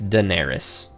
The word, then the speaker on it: Daenerys: I get to choose how to pronounce it. That's Daenerys.